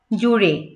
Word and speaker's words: জুড়ে: জোর দিয়ে, পথ, পথ, জুড়ে, জুড়ে, জুড়ে না জুড়ে, এই জয়ের উচ্চারণটাও দেখবেন অনেকে হালকা করে উচ্চারণ করে, জুড়ে, জুড়ে, জ, জ, এটা কিন্তু জ উচ্চারণ হবে, জুড়ে, পথ জুড়ে তার